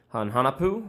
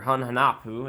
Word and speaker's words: Hun Hunahpu: They are one of, if not the most represented archetype in the entire game, specifically Hun Hunahpu, Wellspring, or Hun Hunahpu, as you'll hear me pronounce his name.